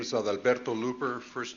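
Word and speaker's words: Adalberto: My name is Alberto Looper. First name is spelled A D A L B E R T O.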